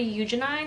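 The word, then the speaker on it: Eugenides: then i read the virgin suicides by jeffrey eugenine technically that's how you say it i said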